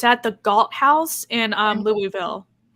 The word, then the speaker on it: Louisville: We have to teach people how to say Louisville. Wait, how do you say Louisville? Louisville. If you say Louisville, we know you're not from here.